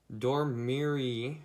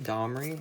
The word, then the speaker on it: Domri: Domri, or Domri? That's how you pronounce that.